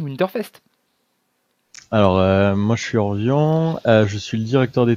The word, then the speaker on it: Orvion: Salut Orvion. Bonjour. Je prononce bien ton pseudo, hein, jusque là on est bon. Oui, Voilà. oui, tu peux dire Orvi si tu veux.